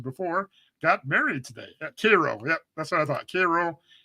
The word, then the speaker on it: Cairo: It's spelled like Cairo, like Egypt, but it's definitely not Cairo, Egypt. I think it's Cairo, Egypt, or Cairo, Georgia.